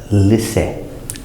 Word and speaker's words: listen: a a vey action or they are listening pronunciation well it really lifts a listen listen listen is the simple action so with